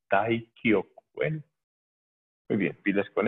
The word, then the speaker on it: Taikyoku: Taikyoku Shodan, bien hechecita, ojo con la pronunciación, que a veces hay gente que se come el Taikyoku y dice Taiyoku, no es Taiyoku, es Taikyoku, Taikyoku.